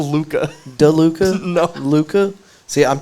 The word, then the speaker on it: Luka: DeLuca? Did I say it right? No, Luka.